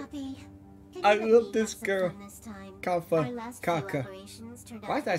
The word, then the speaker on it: Kafka: Very punctual, Kafka. Kafka? Okay. Oh, that's how you pronounce her name.